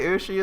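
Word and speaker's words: 牛: cow in Japanese was it was actually to say ushi is a cow I didn't realize it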